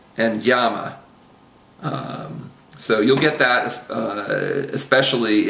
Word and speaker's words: llama: A common way to pronounce it is as the English Y sound. So the words we have on the page there would be millón, amarillo, and llama.